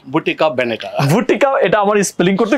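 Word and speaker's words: Bottega Veneta: তারপর হচ্ছে ভি ই এন ই টি এ ভুটিকা ভেনেটা ভুটিকা এটা আমার স্পেলিং করতে কষ্ট হইতেছিল কিভাবে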